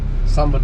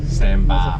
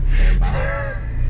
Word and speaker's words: Sambar: All right, Sambar test drive. Sambar test drive. Stop calling it Samba. That's how we pronounce it again. Sambar. Motherfucker. Sambar. It's not a sandbar. Sambar.